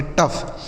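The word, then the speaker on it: tough: इस ओ और यू ओ यू जी एच का क्या उच्चारण हो गया? फ। इसे पढ़ेंगे टफ।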